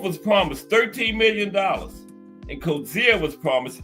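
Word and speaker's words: Coetzee: Holmes and Co Zia measur millions of people pronounce it. I was still saying coetsi during co zia, right? It's coetsi the way it's spelled, but it's cozia.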